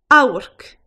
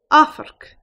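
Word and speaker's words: amharc: Another way of saying look is ow-urk, also pronounced af-ark. Ow-urk or af-ark.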